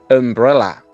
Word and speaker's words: umbrella: Sombrilla en inglés comienza también por la vocal U, pero la pronunciación de esa U no es como la de unicorn con una U, sino que es como con un sonido vocal. Umbrella.